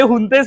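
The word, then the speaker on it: Fuentes: त्या आणि हा त्यात तुम्ही तो बरोबर स्पॅनिश उच्चार केला होता कारण आम्ही सगळे त्याला त्या स्पेलिंग नुसार उच्चार करतो पण ते हुंतेस म्हणतात त्याचं स्पेलिंग वेगळं असतं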